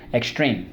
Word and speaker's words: extreme: extreme so let's go X treem extreme so let's go one two three X second syllable dream extreme one of the few swords in English where the silent e makes the e say e okay then when you